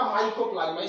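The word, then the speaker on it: Mycoplasma: ये जो देख रहे हैं आप, ये है आपका माइकोप्लाज्मा। स्पेलिंग ध्यान देख रहे हैं, माइक्रो नहीं है, माइको देखिए वाई होगा, वहां आई लिख दिए, MYCO माइको होगा।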